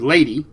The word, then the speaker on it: Ledi: so almost like the the the word lady and then Sayad has no no rough equivalent in English but it's l e di then the second word is s a y a d a w but I take it